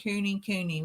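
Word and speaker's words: Kunekune: and catty corner said Cooney Cooney would be how you pronounce it there you go Teddy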